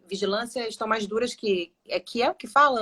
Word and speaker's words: Kiel: Kiel que fala o nome da sua cidade? Como é que pronuncia?